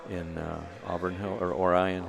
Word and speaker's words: Orion: uh, Auburn Hill or Orion Hills, Oran Hills they pronounce it, or Orian Lake, Michigan, you know, and they've done a lot.